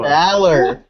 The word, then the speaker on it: Balor: His arm is broke, and you cannot be polite enough to pronounce his name correctly. Finn Balor. No! Balor. Balor. Sorg. It's like Team Valor.